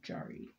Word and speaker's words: Yari: It's spelled Yari, but it's pronunciated, I believe, Jari.